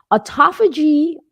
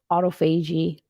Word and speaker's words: autophagy: gotten into autophagy yet autophagy or some people pronounces it autophagy I'm going to pronounce it autophagy autophagy is literally cellular